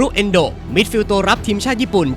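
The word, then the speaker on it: 遠藤: เซ็นเตอร์ ฮาล์ฟ ได้ ด้วย เอ็นโด ชื่อ ของ เขา เนี่ย ออก เสียง ยาว นะ ครับบาง คน อาจ จะ เอ็นโดะ ก็ ได้ เขา เกิด ที่ เมือง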